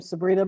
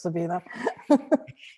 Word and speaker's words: Sabina: and vote for me sabina hey thank you so much sabina i'm sorry i pronounced your name sabrina before i know it's sabina very common error yeah okay so um